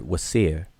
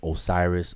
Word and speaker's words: Wsir: So this spells out the word Wasir. It transliterates as WSIR. We pronounce it as Osiris or Asar or Usir, Osir, etc., etc.